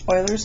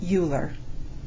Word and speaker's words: Euler: Oilers's method is named for the very famous mathematician Leonard Oiler. He was a Swiss German mathematician. Um, Swiss German. So, it's pronounced Oiler, not Uler.